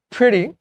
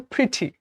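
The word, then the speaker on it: pretty: সো প্রিটি, এটা হচ্ছে American pronunciation, আর ব্রিটিশে কেউ প্রিটি।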